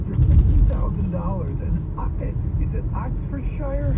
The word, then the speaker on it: Oxfordshire: And is it Oxfordshire? How do you say that? You got that right, yeah. Oxfordshire, yeah.